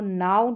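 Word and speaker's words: know: जी आर को ग्र के एन में जो है एन को पढ़ा जाएगा और के यहां पर साइलेंट रहता है।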